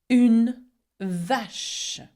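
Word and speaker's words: vache: a unash. Now, when you have the ch together, it makes the sound sh and not ch like in English. Okay? So, watch out for this one.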